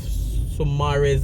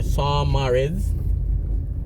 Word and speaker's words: Saumarez: So this is a cul-de-sac, a circle right off Saumarez Avenue, or Saumarez. So it's spelled S-A-U-M-A-R-E-Z.